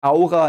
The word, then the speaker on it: Aura: not perfectly fitting but but Aura is pronounced AA in German but it means the